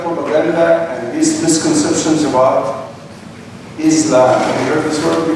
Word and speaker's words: Islam: Say Islam. She said, Islam. I said, no. It is Islam.